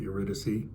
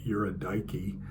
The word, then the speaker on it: Eurydice: it Eurydice in fact most people call it Eurydice my Greek professors when I was a kid called her Yura Daiki which eighteen year old me thought was funny but regardless of how you